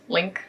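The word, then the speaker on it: LingQ: week abut then I found out that is pronounced link so sorry Steve Kaufman is linked I can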